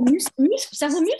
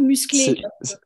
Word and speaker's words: musclé: Et Antoine, c'est cerveau muscle ou musclé? Musclé, musclé, musclé.